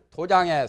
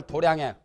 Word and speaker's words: 도량: 또는 관작을 해요 수월 도장에 수월 도량에 편안하게 안진다 그러니까 공부를 하려고 보리수에서 년간 고행을 닦는 것 그런 것들이 이제 부처님도 수월 도장 수월 도량이라 합니다 원래 불교의 발음은 도량이라고 그래요 이것도 불교의 발음은 점성이